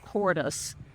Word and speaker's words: Kordes: Bliss Parfuma is one of the Parfuma series of roses developed by one of my personal favorite rose breeders called Wilhelm Cordes. That's spelled Kordes.